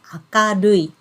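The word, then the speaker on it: 明るい: And then we pronounce it as akarui. Akarui. So you can see this kanji character is pronounced as aka and then rui.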